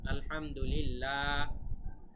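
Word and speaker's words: الحمد لله: কারণে কিন্তু এখানে উচ্চারণটা, লামের উচ্চারণ পাতলা হবে, ল এরকম হবে না, লা এরকম হবে, ঠিক আছে? আলহামদুলিল্লাহ, লিল ল হবে না, ঠিক আছে?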